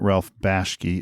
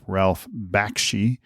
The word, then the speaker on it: Bakshi: Just to have realized I just mispronounced his name wrong. It's not Ralph Bashki, it's Ralph Bakshi. Uh his website, you're welcome to visit and read more about him from him. It's it's Bakshi Studios.